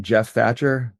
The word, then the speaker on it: Geoff Thatcher: Probably the fastest way is just to Google my name, Geoff Thatcher, spelled with a G.